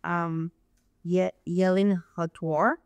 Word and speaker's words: Yelin Hwtar: I'm with Keller Williams Realty, and I have here our guest, Yelin Hwtar. That pronounce it right?